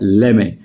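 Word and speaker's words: lemme: इसका मतलब हो गया लेट मी की जगह लेमे लेमे ले ले टी को साइलेंट कर दिया अब ये देखो ये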